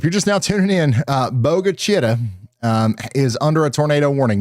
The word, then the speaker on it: Bogue Chitto: Ryan, just to clarify for everyone, the correct local pronunciation for Bogue Chitto is Boga Chitta or Boga Chitta.